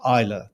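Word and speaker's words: Islay: two whiskies from the island of Isa that's spelled is l y off the west coast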